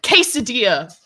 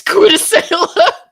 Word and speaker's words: quesadilla: Quesadilla. But in my heart, it's Quidasela.